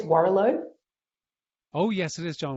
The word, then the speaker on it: Warrilow: Name's John, and I don't know how you pronounce his surname, but I think it's Warrilow. Oh, yes, it is John Warrilow.